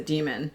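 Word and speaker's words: dæmon: So, that doesn't give too much away, but it does introduce the concept of the demon. Yes. Um, which is spelled D A E, but when the A and the E are like smooshed together.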